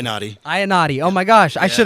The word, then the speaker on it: Iannotti: Am I pronouncing it correctly? Iannotti. Iannotti.